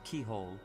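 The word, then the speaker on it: Cichol: keyhole and st. wait wait wait wait that is pronounce st. keyhole st. keyhole do they have the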